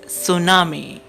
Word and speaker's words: tsunami: called a tsunami tsunami in this word t is a silent alphabet we don't pronounce t the correct pronunciation is tsunami number five this natural